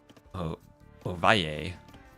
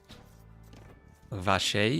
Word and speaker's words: Ovalle: Oier if I pronounce it Colombian style. Oh, and dragon born. Hello. Vashe, if you pronounce it Argentinian Uruguayan style.